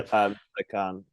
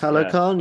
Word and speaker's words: Talokan: Telecan. Telecan is that how you say it? Yeah, Talokan, yeah, Talokan, thank Telecan.